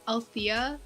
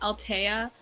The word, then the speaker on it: Althea: do you pronounce it i call like my mom calls me althea but then so many other people call me altea then my friends call me so i don't know